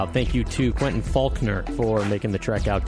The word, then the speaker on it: Falconer: You can, and weirdly, his name is Faulkner, but it's spelled Falconer. And it's Faulkner. As I told him off the air when he was in here, I would be pronouncing it Falconer.